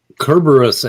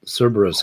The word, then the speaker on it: Cerberus: russ see a beerus kerberos as danny would say when he's on this channel but cerberus everywhere else i'm sorry yeah mispronouncing